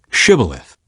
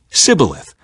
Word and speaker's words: Shibboleth: If the man said, "No, I'm not," they would tell him to say Shibboleth. If he was from Ephraim, he would say Sibboleth, because people from Ephraim cannot pronounce the word correctly.